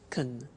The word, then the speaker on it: can: can speak Spanish now notice the pronunciation of can becomes can she can she can speak Spanish he can play tennis we can speak German all right sir can become caen when we speak now the negative form